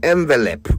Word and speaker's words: envelope: Some people even say envelope, which is a lot worse. But please uh let's all agree going forward that it's envelope. Okay. The word starts with an E, not an O.